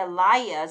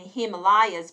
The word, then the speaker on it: Himalayas: At least in American English, the Himalayas and Himalayas pronounce the layas, not Himalayas.